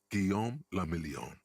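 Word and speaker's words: Guillaume Le Million: meant only one thing Gom lilon if it doesn't rhyme you're not pronouncing it right out of the dazzling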